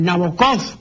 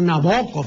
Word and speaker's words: Nabokov: pues es stendal no la gente dice nabokov no es nabokov sino nabokov Vladimir nabokov entonces en